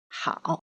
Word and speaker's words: 好: Letters A and O are together, pronounced as ao. The pinyin of the character 好 follows the third tone, so it pronounces as he, ao, 好.